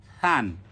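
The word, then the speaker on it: ثً: তান, থা দুই জবর থান। থাটা কি হবে? নরম হবে, থান। আমরা প্রথম ক্লাসগুলোতে যে মাখরাজের উচ্চারণগুলো শিখিয়েছি, এই ক্লাসগুলো ওখান থেকে ভালোভাবে দেখে নিতে হবে। থা দুই জবর থান।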